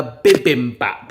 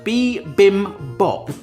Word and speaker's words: bibimbap: For the first time, I'm going to attempt to make a bibbim bap. And I know I've pronounced that wrong. All these ingredients over here will hopefully help make this amazing Korean dish. Bibbap.